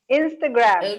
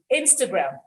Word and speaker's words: Instagram: it's very very lazy instagram this vowel is a schwa sound this is what it's